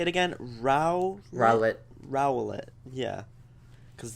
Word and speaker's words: Rowlet: Rowlet.